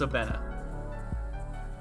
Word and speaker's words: Sobena: Oh, okay, it's pronounced Sobena. I've been adding like 3 extra vowels there at the end.